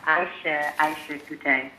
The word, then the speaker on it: Eisha Coutee: Yes, it's Eisha Coutee. Eisha Coutee. Yes. Okay. Yes, the E is silent, no L. Eisha.